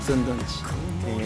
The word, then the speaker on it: 首里殿内: どんち、赤田の首里と書いてすんと読みますね。首里殿内と書いてすんどんち。